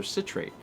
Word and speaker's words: citrate: 3 bits from Science Nerd, who says, "Me being me, I have to let you know the word citrate is actually pronounced with a short I. Oh, so citrate.